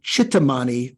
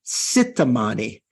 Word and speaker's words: Chittamani: So like instead of saying Chittamani Tara with a CH, one of those consonants, the Tibetans often say Sittamani.